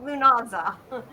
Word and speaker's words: Lughnasadh: Lughnasadh? Lunaza? Okay, Lunaza. Samhain, however you say it, Beltane, Lughnasadh, or Samhain?